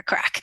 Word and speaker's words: craic: So my job is to, and that's spelled CRAIC. So basically, my job is to go into spaces and help loosen up people's joints and help them unleash their inner crack.